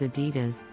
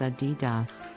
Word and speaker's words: Adidas: moving on to Adidas this German sportswear company is often mispronounced as Adidas but the correct pronunciation is Adidas the name comes from